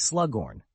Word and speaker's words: Slughorn: "It's Slughorn, not Slug, Professor."